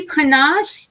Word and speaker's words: Panache: They include receiving multiple, do you say panache? Is that how you say it? Yes, it's Panache Global Entertainment Awards.